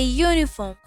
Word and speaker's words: uniform: For example, a uniform, a unit, a user. Use a, not an, is used because the vowel u is in these words is pronounced like the word you.